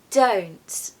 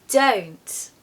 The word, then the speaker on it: don't: it's really lovely o now put it inside the contraction don't don't you can really hear that o sound can't you make sure